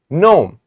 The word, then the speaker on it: gnome: it this is the life of gnome g is silent I didn't say G or G I said gnome once there was a gnome who had a